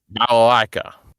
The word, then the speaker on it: Balalaika: Balalaika? Is that right? Balalaika.